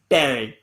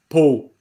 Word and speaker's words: Paul: It's pronounced in France. It's pronounced Paul. But over here, everyone just calls it Paul.